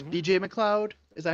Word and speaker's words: McLeod: And then it's BJ McLeod. Is that how you pronounce his last name?